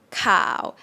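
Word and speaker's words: ข่าว: bot link here yeah cow that one means news cow cow what is the low tone low tones you go low a little lower than mitton and then go even lower oh cow cow sounds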